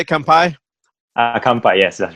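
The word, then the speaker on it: 乾杯: Kampai.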